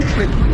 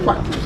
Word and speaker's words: Kweku: The name Kweku is a Ghanaian name, born on Wednesday, but the Kweku was corrupted into Kwak. Like British could not pronounce our names properly. So instead of Kweku, they said Kwak.